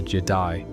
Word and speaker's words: Je'daii: even hear about, the Jedi. And no, that's not me mispronouncing Jedi. It's spelled with an apostrophe in the middle, and it marks a very different philosophy.